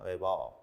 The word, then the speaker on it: Weber: 이 글 을 읽었을 때 , 어떻게 발음 해야 할까 요 ? "Weber" 라고 읽으셔야 합니다 . 베버 .